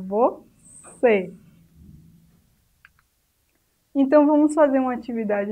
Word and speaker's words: você: Aqui em você, a sílaba mais forte é C, porque o E está acentuado. Mas veja que não é você, mas você. O acento circunflexo está indicando que esse E é fechado.